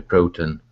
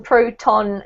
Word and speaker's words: proton: word about pronunciation actually with those particular words Neutron proton electron we actually emphasize the on at the end of the word a little bit more yeah Neutron at